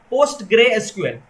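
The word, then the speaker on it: PostgreSQL: Flask framework में हमें काम करना है और डेटाबेस सपोज हमें यूज करना है, let's suppose post grey SQL.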